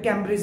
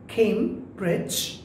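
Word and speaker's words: Cambridge: Well, এটা দেখতে পাচ্ছেন কেমব্রিজ, এটা ক্যামব্রিজ না, কেমব্রিজ অ্যাডভান্সড লার্নার্স ডিকশনারি।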